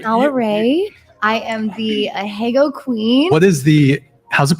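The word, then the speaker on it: ahegao: I am the Ahego Queen. What is how's it pronounced? Ahego.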